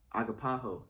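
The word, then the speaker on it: ἀγαπάω: this is strong's g25 uh the pronunciation agapaho and it says uh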